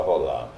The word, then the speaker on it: Roland: É um francês, mas não se pronuncia o D, é só Roland.